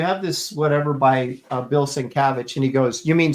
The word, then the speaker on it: Sienkiewicz: had, do you have this whatever by Bill Sienkiewicz?